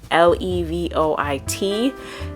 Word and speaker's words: Levoit: I have I think the brand is Levoit, that's how you say it, Levoit.